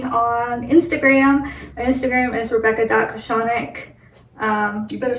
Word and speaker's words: Rebecca Kochanek: out to me on Instagram my Instagram is rebecca.cochonic um you better spell it yeah so my last name is k-o-c-h-a-n-e-k